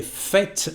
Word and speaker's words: faite: So now we are going to say je l'ai faite with an agreement, and we need the last letter E at the end of the past participle, and it changes the pronunciation.